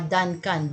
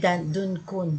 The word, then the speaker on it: Duncan: Kaya nga Duncan. D as in D. Dirty. Duncan. A po yan. Hindi Duncun. Hindi. Ewan ko paano ba i-pronounce. Basta A po ito. D-U-N-C-A-N. Yan po ang proper niya.